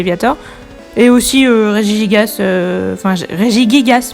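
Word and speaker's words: Régigigas: est aussi régis gasse régis gay gas puisque c'est comme ça qu'il faut le prononcer apparemment pour le niveau le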